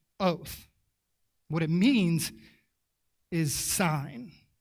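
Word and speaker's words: אות: pretend to know any hebrew but this is pronounced oath what it means is sign and it's the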